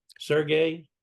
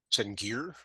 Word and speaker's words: Sengier: Sergey, is that close? Sengier. Oh, is it? Okay. It was kind of Belgian / French.